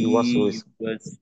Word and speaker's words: يوسوس: ইউ টান হবে না, এটা হবে দ্রুত। হুম, টান দেওয়া যাবে না, তাড়াতাড়ি। কারণ এখানে প্রত্যেকটাই হলো হারাকাত, জজমের উচ্চারণ, যেটা কিনা হুম, মোটেও সময় পাবে না।